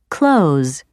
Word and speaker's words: clothes: or changed for example the most common pronunciation of the word clothes is close other examples of this